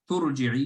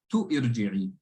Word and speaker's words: ترجعي: If we join turji'i, you just read the ta directly to the ra. Turji'i. You didn't say tu irji'i.